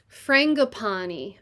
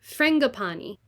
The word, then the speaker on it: frangipani: smells like tart berries frangapani frangapani frangapani the accent is on the frang frangapani it is a tropical